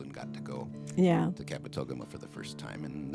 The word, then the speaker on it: Kabetogama: I don't know how to pronounce the name of the lake. Kabetogama.